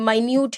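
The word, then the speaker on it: minute: मतलब छोटे छोटे य मिनट नहीं है माइन्यूट है माइन्यूट मतलब बहुत छोटे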